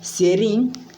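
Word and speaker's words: Tsering: एंड यहाँ का जो एमपी हैं मीन्स मेंबर ऑफ पार्लियामेंट हैं वो जामयांग सेरिंग, इसमें टी साइलेंट है, सेरिंग नामग्याल जी यहाँ के जामयांग सेरिंग नामयांग यहाँ के एमपी हैं।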